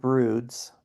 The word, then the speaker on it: Broods: That's spelled like dudes but with BR. It's like dudes with BR.